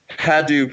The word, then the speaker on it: Hadoop: It depends on who you talk to. Hadoop is a very common pronunciation. Hadoop is what the project founder calls it, and that's what his son says. And Hadoop is actually named after his son's yellow stuffed elephant.